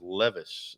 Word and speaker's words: Levis: His name's spelled like the jeans, but it's pronounced Levis.